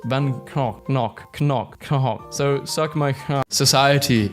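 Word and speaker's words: Van Gogh: People say van go is go. It's not. Well, actually, British people pronounce it go and American people pronounce it go.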